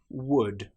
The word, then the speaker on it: would: Another time when the letter L is not pronounced is when we have the letters U, L, D. For example, the word would, could, should. In these cases, again, the L is completely silent.